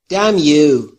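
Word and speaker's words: damn: به من کرس می دمیو همون طور که گفتیم ان در دم تلفظ نمیشه نمیشه نمیشه دمیو یعنی لعنت به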